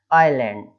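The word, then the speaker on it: island: आइलैंड ऐसा पढ़ेंगे, आइलैंड, आइलैंड, आइलैंड, है ना, एस साइलेंट हो जाता है, किस चीज के बीच में आना चाहिए, आई और एल के बीच में एस आ रहा है, तो एल सॉरी एस जो है वो साइलेंट हो जाएगा, आइलैंड, इस तरीके से।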